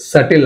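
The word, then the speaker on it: subtle: సో బిని మనం pronounce చేయకూడదు, సటిల్ అనాలి అంతే, సటిల్.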